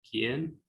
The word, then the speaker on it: quién: It's silent if it comes between the letters Q and G and E and I. So that's why this word here is pronounced K. ¿Qué? Quien. ¿Quién? Guerra. Guerra.